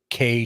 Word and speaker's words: Kei: For those that don't know, a K vehicle is a vehicle that comes from Japan. It's spelled KEI.